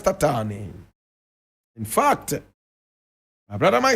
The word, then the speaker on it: Tatane: This is the photograph of Andries Tatane. Andries Tatane. Andries is spelled A-N-D-R-I-E-S.